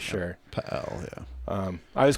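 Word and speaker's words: Pe Ell: Right outside of a town called Pael, or I guess it's actually pronounced PL, but I refuse to say PL because that's disgusting. PL.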